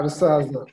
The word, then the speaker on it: Rusaza: And somehow I met Mahame Andrew, and your name, Rusaza. Is it right? Yeah, Rusaza.